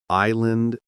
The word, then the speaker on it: island: Okay, we learned that many English words have silent letters like debt, island, and salmon, right? No B, no S, and no L.